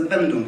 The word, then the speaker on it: Bandung: conference you see that i spell it oemg which is the which was the dutch spelling at the time and then i come back to the normal indonesian pronunciation of ung it was african and